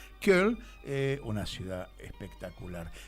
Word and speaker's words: Köln: Eso lo aprendí a pronunciar. Köln, una ciudad espectacular.